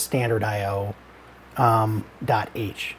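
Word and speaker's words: stdio.h: And we have angle brackets and we have this stdio, which people pronounce as standard IO .h.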